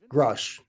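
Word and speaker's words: Grusch: believe that David I don't know how to pronounce his last name k k grush grush grush yes I think he's telling us the truth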